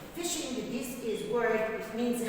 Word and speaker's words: phishing: Now, phishing. Phishing, this is word, it means خداع. Phishing, pay attention that we have PH like elephant, phishing, so we pronounce it F.